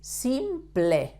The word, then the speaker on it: simple: El presente simple, you have to pronounce the P, L, E, like ple, not like in English that is pol or sample. In Spanish is simple.